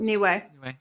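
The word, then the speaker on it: Niue: kiras noai no I don't know how it's pronounced New Way new way thank you uh Christmas Island Neville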